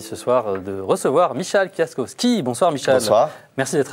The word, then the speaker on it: Kwiatkowski: soir de recevoir Michal kaskovski bonsoir Michel bonsoir merci d'être avec nous merci est-ce que je me trompe pour prononcer votre nom est-ce que c'est bien Fiat kovski c'est très bien juste oui oui ouf par